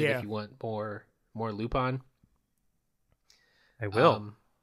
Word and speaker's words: Lupin: I'm going to say Lupin, because I'm a wannabe Frenchy. Because that's how you say it, apparently. Because that's the actual pronunciation. Mr. I took French in high school, always correcting us. Like, it's Lupin. Lupin.